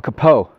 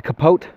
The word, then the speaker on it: capote: I'm wearing what we call a capote, or you could pronounce it as a capote. Either way is, from my research, technically correct. Even though capote is correct French, a lot of the